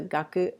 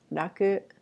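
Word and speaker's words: 楽: So this is the gaku of ongaku, also can be pronounced raku.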